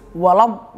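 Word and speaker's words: ولا الضالين: alaihim ghairil maghdubi alaihim waladdallin. Itu tasnya terdapat di atas dhad dan lam. Kita bacanya itu harus ditekan. Ingat harus ditekan. Gak boleh samar-samar. Kalau samar salah. Jadi kalau baca itu harus waladhdallin.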